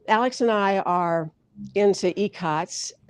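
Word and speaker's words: ikat: And then Alex and I are into icots. That's spelled I-K-A-T. That's how I pronounce it. It can be pronounced in a number of ways.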